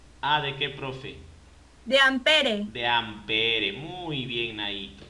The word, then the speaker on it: ampere: o sea dice claro se escribe ampere pero se pronuncia amper o sea sin la e sin la última e Okay amper amper ya